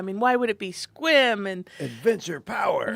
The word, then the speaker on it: Sequim: Well, Squim. yes. But like phonetically, is it Sequim?